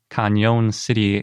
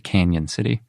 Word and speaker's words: Cañon City: And the sauropod is from Cañon City, Colorado. I think some people pronounce it Canyon City. I've heard that. But it's got an Enye, so it really seems like it should be Cañon.